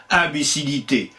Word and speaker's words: imbécilité: ils étaient purement étymologiques on disait bien unbé imbécilité aucun de nous deux n'était prononcé mouillé comme c'est le cas pour le mot fille comment le sait-on oh